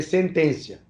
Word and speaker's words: sententia: uma sentencia que é com dois t se escreve sententia mas se lê sentencia a independentemente da vontade